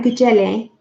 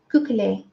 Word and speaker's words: Gugeli: a cookie as for I'm saying boo jelly it's googly googly I'm putting on the